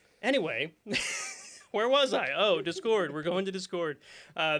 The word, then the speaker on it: Discord: ten i don't know it's dis chord this is the stress is on the first syllable discord yeah is that right